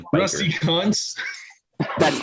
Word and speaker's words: Kuntz: He is pronounced like Coons.